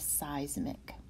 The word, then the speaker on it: seismic: let me give you the sound pronunciation of seismic its size Micke seismic seismic waves are waves